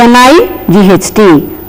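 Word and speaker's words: knight: is me and then K N I G HT night it's like the ordinary n i g HT only and then k n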